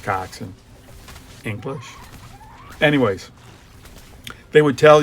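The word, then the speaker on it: coxswain: Cocksw spelled swing but it's pronounced coxin English.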